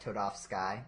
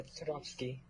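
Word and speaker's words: Toadofsky: Okay, that's how you would pronounce it, right? Not Toad of Sky or Toad of Sky. Toad. Yeah, Todofsky.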